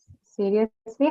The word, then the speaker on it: seriously: But to your information, both of them, elevate and execute, both of them are stressed on the first syllable, okay?